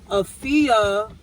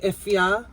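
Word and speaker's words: Afua: So Afia is not really the real pronunciation of my name. Yeah. It's actually Efia, but because it's a Ghanaian name, which means I'm born on a Friday. Yeah. But but where I'm from, my parents are from, they spell it A-F-U-A. So usually the pronunciation doesn't go with the spelling.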